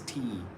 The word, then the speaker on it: tomb: B is silent. So it's not tomb. It's not tomb. It's tomb.